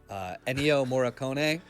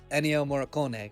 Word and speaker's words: Ennio Morricone: Ennio Morricone, was that correct? Yeah, that's very good. Yes, Ennio Morricone.